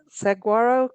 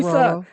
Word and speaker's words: saguaro: said saguaro cactus, and he's like, Lisa, Saguaro.